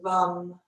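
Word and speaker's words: vam: with our second chakra the mantra is rum v-a-m and it rhymes with thumb so i'll just chant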